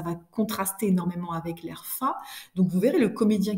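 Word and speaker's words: fat: Alors on prononce ça comme ça, fa, ça veut dire d'un air satisfait et content de lui.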